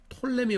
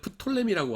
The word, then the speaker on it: Ptolemy: 그래서 영어로는 Ptolemy인데 라틴어를 읽을 적에는 프톨레미라고 하고요. P를 발음해서 영어로 할 적에는 앞에 P하고 자음했을 적에는 P를 발음 안 해요. 사이코가 뭐예요? Psycho죠. 사이코. 근데 이거 프사이코. 아유 저 사람은 너무 프사이코야 그러지 않잖아요. P 묵음이잖아요. 이렇듯이 톨레미 이것도 영어로 읽을 적에는 이제 묵음으로 발음이 됩니다.